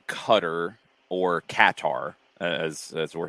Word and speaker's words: Qatar: a draw for you uh cutter guitar however you're pronouncing it i apologize either way i think it's supposed to be qatar i think we're it's like guitar either we settled on guitar well i think we